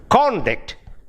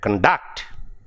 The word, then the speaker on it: conduct: Say, for example, you remember the word conduct and conduct. Conduct is either a noun, if it is in the first syllable, is either a noun or adjective, and when it comes to conduct, it becomes a verb.